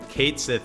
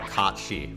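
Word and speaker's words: Cait Sith: See also, like, Final Fantasy VII, Kate Sith is like Kachi, right? Is like the correct pronunciation of that.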